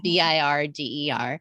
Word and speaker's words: Birger: have is his name is Birger or Burger. I'm never even quite sure how to say it, but it's Birger.